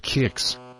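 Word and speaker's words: Qix: man then centipede then kicks pronounced kicks after a good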